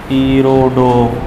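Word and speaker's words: Irodov: हाँ हीरोडो पैटर्न है ना, आई ई हीरोडो स्पेलिंग आई हीरोडो हीरोडो ऐसे बोलते हैं।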